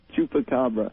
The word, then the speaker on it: Chupacabra: Chupacabra.